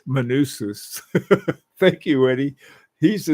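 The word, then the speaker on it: Manousis: Hey Eddie, Manusos, I pronounce it Manusis. Manusis.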